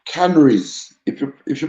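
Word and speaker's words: Canaries: we talking about um it's a place called canneries if you if you pronounce it the scent lucian where you'd say canary it's a fishing village right by the sea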